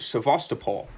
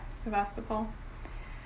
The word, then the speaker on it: Sevastopol: that you spent your childhood in if i pronounce it correctly i hope sevastopol yeah sebastopol um so i was born in sebastopol and